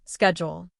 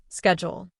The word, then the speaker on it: schedule: For example, in American English, people often say schedule with a SK sound, schedule. In British English, people often say it with a SH sound, schedule. It is the same word, just pronounced differently.